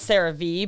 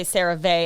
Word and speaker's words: CeraVe: color and it's v i always thought it was sarah v but it it does say cerave i think there is there an